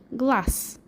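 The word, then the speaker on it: глаз: difference in the ending you pronounce with s glass and you write with zed glass the next word is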